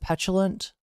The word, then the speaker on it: petulant: In in the US, we pronounce it petulant. Because I know that's what he wants. Ultimately, he wants attention. I can't tell if Pyro's mispronouncing it or if it's just a British versus American pronunciation.